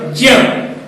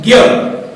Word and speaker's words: ज्ञ: ज और य, ज्य, जबकि अधिकांश लोग इसका उच्चारण जो करते हैं वो होता है ज्ञ। अशुद्ध उच्चारण है ज्ञ, शुद्ध उच्चारण ज्या है, किंतु एक प्रचलित उच्चारण है, इसलिए चल जाता है, हमारा काम चल जाता है, इसलिए हम इसको ज्यादातर विज्ञान कहते हैं, ज्ञान, विज्ञान कहते हैं। ज्ञ के उच्चारण को ज्ञ की तरह करते हैं, जबकि वास्तव में इसका उच्चारण ज्ञ नहीं ज्या होता है, ज्या और य।